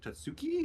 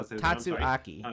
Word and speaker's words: Tatsuaki: It's it's going to be a Tats Tatsuki. Is that how you say? I'm not quite sure how Tatsuaki. It's four syllables.